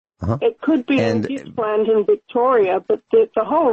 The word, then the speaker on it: Gippsland: Gippsland. Gippsland. Correct. That's how you say it. Or Gippsland, as a lot of the locals call it.